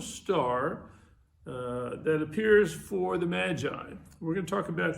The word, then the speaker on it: Magi: The word Magi is kind of an English pronunciation of the Greek word magos. I know they don't sound quite the same, but somehow it comes down into English as magi from that Greek word.